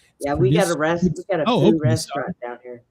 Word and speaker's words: pho: Yeah, we got a food restaurant down here. It's traditionally pronounced foo instead of fa.